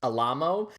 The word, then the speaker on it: Alamo: And I want to make it clear that his name apparently specifies that it's pronounced Alamo, but it's spelled like the Alamo, and I'm going to